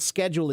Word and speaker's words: schedule: schedule uh the the the traditional way that the British say the word schedule is schedule schedule but many younger people have been switching to schedule now and not schedule that's my understanding so